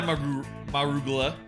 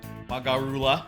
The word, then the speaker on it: Magarula: Goodbye, Marugula. Magarula. No more Marugula. Okay. Oh, that's... We beat him something. I'm referencing back earlier where I said it wrong. And it sounded like a vegetable.